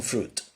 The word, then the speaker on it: fruit: ¿Qué pasa con fruit? Fruit, fruit, fruit, fruit, fruit, fruit, fruit. Podría estar así todo el día. Fruit, fruit, fruit. ¿Qué es lo que no pronuncio? Pues la I, exactamente. Entonces, I don't have any fruit.